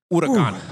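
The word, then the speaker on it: Huracán: I actually can't pronounce hurricane, so I'm just going to stay away from it. Wow, Jesus. Huracan. Okay. Huracan. Thunder.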